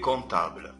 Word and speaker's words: comptable: Madame Rigou est comptable. ناخد بالنا من البي لا تنطق.